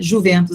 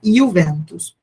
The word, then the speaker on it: Juventus: Juventus aqui como a gente pronuncia, mas é Juventus.